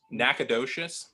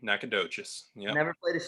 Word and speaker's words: Nacogdoches: live right town name right there can you pronounce that say it one more time Nacogdoches no Nacogdoches mmm Nacogdoches Nacogdoches yeah that's yeah so so awesome yeah